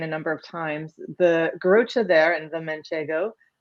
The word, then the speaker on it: Garrotxa: it for other people, the TXA is kind of a cha, like a CHA sound.